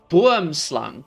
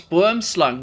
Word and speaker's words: boomslang: pronounces it correctly because it's an Afrikaans word, so no one knows how to pronounce it. But there is a snake called a boomslang.